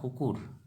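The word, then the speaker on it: কুকুৰ: तो दोस्तों, हिंदी में कुत्ता को असमिया में कुकुर कहते हैं। क्या कहते हैं? ब्रैकेट में मैं हिंदी में उच्चारण लिख के दिखा रहा हूँ, कुकुर।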